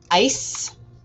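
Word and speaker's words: áis: doing the action um that's ice a-i-s is pronounced ice and then um the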